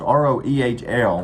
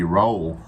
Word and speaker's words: Roehl: It's R-O-E-H-L, which you'd think would be Roehl, but it's called Roehl is how you pronounce it.